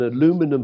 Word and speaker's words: aluminum: I personally think it is, because, as I understand it, an aluminum hull, I'll give it the American pronunciation, doesn't pierce through a steel frame building from the laws of physics.